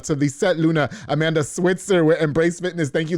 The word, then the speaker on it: Switzer: Luna and Amanda Switzer which evidently I've been saying her last name wrong all this time it's actually Switzer not Switzerland with embrac Fitness they teach